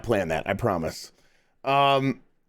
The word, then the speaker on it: Ys: Yeez. It's Yeez, right? That's Yeez nuts. It's always been Yeez. I know there is no other pronunciation.